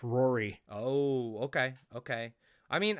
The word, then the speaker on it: Ruairi: But yeah, anyways, uh Ruairi Robinson? I love you, man. You're You're the Irish me. You're my brother. You're my twin. Knowing it that it's Irish, maybe it's pronounced Rory.